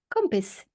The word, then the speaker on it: kompis: kompis. Kompis. Din svenska kompis. Like a compass, like north, south, east, west? No, but that's cool. No, kompis. K-O-M-P-I-S.